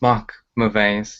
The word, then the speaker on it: Mark Mauvais: So without further ado, here is Mark to pronounce his name properly. So, Hello, bonjour, guten tag, namaste, konnichiwa. It's Mark Mauvais.